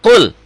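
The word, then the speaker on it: قُلْ: Idhar ini qul. Jadi nggak boleh lebay. Qul, nggak boleh ditahan. Qul, jelas ya. Qul, kayak dihentak.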